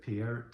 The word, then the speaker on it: Peart: course the drummer Neil Peart. No, I'm pronouncing that wrong. Neil, is it Peart that I'm supposed to be saying? I just years and years of saying Peart. I keep saying Peart.